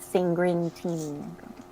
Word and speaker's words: Sanguintini: I think Sanguintini. Maybe you changed it a little, or maybe it's pronounced Sanguintini, right? No R. Like sangria.